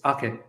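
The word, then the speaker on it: Aké: But the whole Nathan Ake situation, I keep saying Nathan Ake, it's Ake, Nathan Ake.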